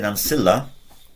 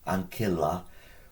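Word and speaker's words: ancilla: on pronunciation you'll know it's a hard see if you hear someone say Nilla it's not the end of the world I don't think a Roman would have pronounced it like that uh according to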